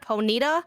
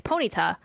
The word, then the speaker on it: Ponyta: is uh what god ponyta i would say ponita i would say ponita it's ponyta which is not that big of a difference but it is just